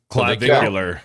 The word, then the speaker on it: Clavicular: And I'm Clavicular. Clav Clavvicular. Yeah, clavicular. Like a clavicle.